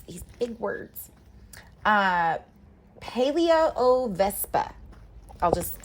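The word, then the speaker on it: Palaeovespa: wasp oh gracious these big words uh uh paleo o Vespa I'll just spell that in case you went to Google this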